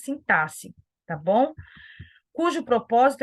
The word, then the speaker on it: sintaxe: sintaxe tá não se não se pronuncia sintaxe já falei isso também numa aula anterior nós falamos sintaxe tá bom cujo propósito